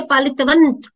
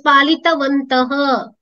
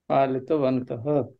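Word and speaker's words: पालितवन्तः: The reason why I am saying is, when you have a halanta, that's when you will say palitavant. Mm-hmm. Palitavant. There is a meaning. There is a meaning for it. So, you have to pronounce it differently. It is palitavantaha.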